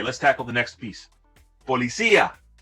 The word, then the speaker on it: policía: For now, make sure you're stressing the right syllable here so you're better understood.